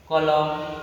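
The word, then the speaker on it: column: जैसे ऑटोमॉन, एम एन दिया है ना, यहाँ पे एन जो है आपको साइलेंट है, एन क्या है आपको साइलेंट है ना। डैम, हैम, कॉन्डेम, कॉलम, ईटीसी।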